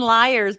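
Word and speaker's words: Lyres: oh but what about but it's and Liars but l-y-e-r-s yeah so it's you but you spell it like loot like the instrument and Liars oh it's actually good yes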